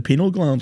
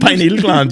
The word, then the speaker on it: pineal gland: that right partly so cal cal califas the penal gland L that's what they say is that how you pronounce that the penal gland yeah P gland pineal gland yeah sorry penal gland something I have a